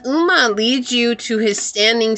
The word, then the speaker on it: Ogma: I know it says Ogma, but it's actually pronounced Uma. This is the Gaelic. I'm sorry, the Celtic warrior. Uma.